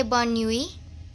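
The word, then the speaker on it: bonne nuit: n n e n u i t is pronounced as bonnie which is known as good night so in french we say born nui to say goodnight now this is known as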